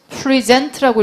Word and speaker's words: present: present 소리가 달라져요. present라고 읽으면 어떻게 돼요? 얘는 발표하다.